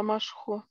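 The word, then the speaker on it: משחו: А Машхо, почему там вав, да, Машхо? Машхо, просто это Камац Кацар, он читается как О.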